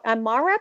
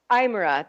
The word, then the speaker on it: Aymara: Did you find, because when you lived in Bolivia, you actually made friends with lots of am I saying it right? Amara people? Is that? Aymara, the Aymara people.